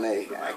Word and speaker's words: Janelle: the background sing with Janette Monae uhhuh uh Jana mon Janelle yeah you right you're right Janelle I can't pronounce the name but no it's just been